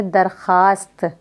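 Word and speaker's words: درخواست: इसी तरीके से हम दरख्वास्त लिखते हैं, दाल रे खे वाव अलिफ सीन ते। हम वाव साइलेंट करके पढ़ेंगे दरखास्त। हम पढ़ेंगे दरखास्त लेकिन लिखा क्या जाएगा?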